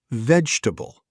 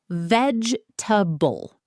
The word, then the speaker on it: vegetable: Next word, vegetable. Many people pronounce every syllable and say vegetable. But native speakers usually shorten it.